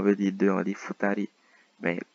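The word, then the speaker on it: 二人: Mais pour le 1 et le 2, la prononciation change.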